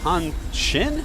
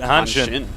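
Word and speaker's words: Hanshin: look at that and say Han Shin it's Hansen No in uh Korean any s followed by an i is shh that's true so that's how they say it hin now he's got an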